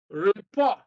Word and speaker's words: report: Then verbs, produce, second syllable, report, second syllable, narrate, second syllable, transfer, second syllable, dictate, second syllable.